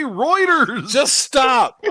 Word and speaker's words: Reuters: Well, Hunter, he heard about it on Rugers. Yeah. Or routers. I just want to grab the boy by the head and go, just say Reuters.